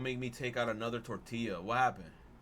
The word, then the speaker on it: tortilla: Totally forgot about those two L's. Tortilla.